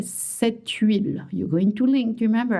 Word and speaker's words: huile: I know it's so hard to say, it starts with H. Yes, you would say cette huile.